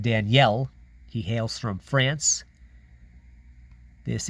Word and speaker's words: Daniel: Ginter red egg Auto of world renowned Chef Danielle baloud you might be inclined to say Daniel but his first name is pronounced Danielle he hails from France this is limited to